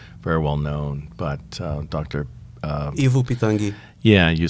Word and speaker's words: Ivo Pitanguy: Ivo Pitangi.